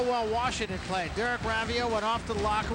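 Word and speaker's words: Raivio: We asked Derek Rav Ravio today, how do you pronounce Ravio? Some people say Ravio. He said it's Ravio.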